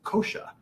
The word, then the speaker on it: kosha: And the way it's written is K-O-S-A. Now, the S has a little accent. It sounds like kosha, but it's spelled S with an accent because it's not quite the SH that we're used to in English. Sanskrit has many more sounds than the English alphabet has.